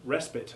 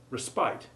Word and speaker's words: respite: There are also the nouns respite and scone, which can be pronounced either as you have just heard them, with short I and O respectively, or with long I and O sounds, respite and scone. We have no particular preference for the former, but we